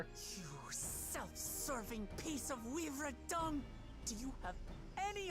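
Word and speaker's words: Wivre: And I was pronouncing it wyvern, but it's weaver.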